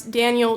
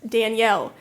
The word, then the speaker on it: Daniel: I did, unfortunately, mispronounce Daniel Jenkins' name as Danielle, and it's honestly not the first time it's happened.